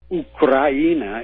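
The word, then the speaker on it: Украина: Ukraina is how it's pronounced in Russian.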